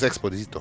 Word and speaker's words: Exposito: Juan Carlos Exposito. All right, I will go into. I think it's more like Juan Carlos. Juan Carlos Exposito. Okay. That sounds perfect.